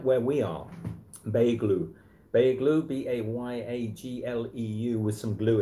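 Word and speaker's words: Beyoğlu: We don't pronounce the G. You don't pronounce the G. Beylu.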